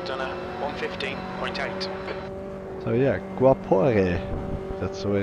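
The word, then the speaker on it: Guaporé: So yeah, Guapore. That's the way it's pronounced.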